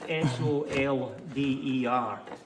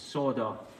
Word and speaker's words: solder: word yeah it's It's s o l d e r and I don't know why in the United Kingdom it's pronounced solder and in the in America it's pronounced soda I'm not sure I